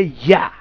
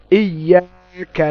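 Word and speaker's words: ياء: ইয়াটা দেখুন, ইয়া এর উচ্চারণটা আর হামজার উচ্চারণটা বাঙালিদের জন্য মিলে যায়, কিন্তু ইয়া এর উচ্চারণটা হবে হচ্ছে জিহ্বার মধ্যস্থল এবং উপরের তালু।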